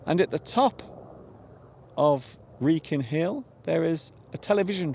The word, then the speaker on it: Wrekin: So this particular hill is called the Wrekin. Wrekin. W-R-E-K-I-N. So that's how you spell it.